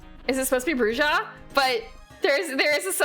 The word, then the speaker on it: bruja: that I think it's supposed to be like bruja oh I I I do not want AI mode. I I was doing bruha how to pronounce WTF instead of VTM. So they actually do say bruha I guess in bloodlines but otherwise it's bru bruha bruha bruha.